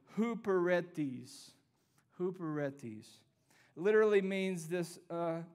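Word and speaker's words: ὑπηρέτης: bear with me let me say it correctly Hooper read these who Peretti's literally means this concept of being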